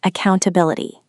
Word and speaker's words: accountability: Accountability. This is a long one. Five syllables. A count. A bell t. The main stress is on the fourth syllable.